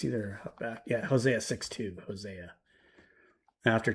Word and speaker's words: Hosea: Hosea.